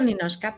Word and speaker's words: Ninotchka: Sin embargo, me gusta mucho porque, bueno, yo uso Ninochka, pero es una complicación, ¿verdad? Porque además se escribe con la T-C-H-K-A, pero, que es